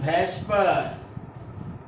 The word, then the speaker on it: VSEPR: per theory bs epr it is pronounced as vesper the spelling of the